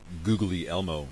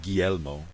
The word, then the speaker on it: Guglielmo: So the two guys that I would like you to know, Guglielmo Marconi, or if you're me, Googly Elmo Marconi, and David Sarnoff. So Guglielmo, or Guglielmo Marconi, as it's properly pronounced, invented the radio, or